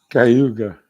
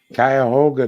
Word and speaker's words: Cuyahoga: Cayuga. It's Cuyahoga, dumbass.